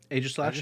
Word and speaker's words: Aegislash: Aegislash, yeah.